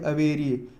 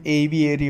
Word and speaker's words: aviary: इसका प्रोनाउंसिएशन एविएरी होता है, एविएरी, ठीक है। और वो अपेरी होता है।